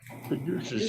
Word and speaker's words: caduceus: Caduceus, the medical symbol. Caduceus, yes, you are pronouncing it correctly.